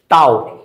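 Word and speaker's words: tau: টর্ককে যে সাইন দ্বারা প্রকাশ করা হয় এটার উচ্চারণ কি? টাও।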